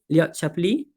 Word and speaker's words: Shapley: if i'm not wrong the pronunciation is like chappie am i right shapley yes yes yes this is the